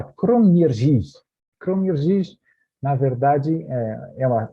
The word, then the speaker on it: Kroměříž: Perto de Lednice, perto de Brno, sempre ali na Morávia, nós temos esta cidade que é difícil pronunciar, mas se fala Kroměříž.